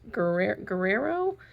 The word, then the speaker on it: Guerrero: Yeah, so she's still Cheryl G, but her name is now Cheryl, I believe it's pronounced Guerrero. Her husband is from Portugal, so it's a Portuguese name.